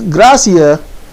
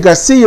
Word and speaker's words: Gracia: __ ] um alice gracia and i want to say i'll keep on saying garcia but it's gracia as they pronounce it gracia um i i